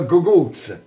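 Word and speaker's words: cucuzza: This is a gugutz, but it's spelled C-U-Z-Z C-U-C-C.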